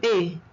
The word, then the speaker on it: es: Look at the pronunciation of es. I do not say s. I say e. Tu es. est is not est, but e. The same sound.